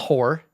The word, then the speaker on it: Hoar: I think his name is Hor. Hor? I think that's his name. It's spelled Hoar. Like yep. Horfrost? It's pronounced Hor.